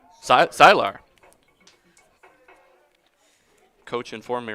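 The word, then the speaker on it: Cihlar: That's spelled C I H L A R CR Silar.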